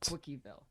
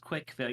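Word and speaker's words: CWCville: he does believe that cville okay for firstly it's pronounced quickfi you just say CWC like it's spelled like the word quick uh but secondly um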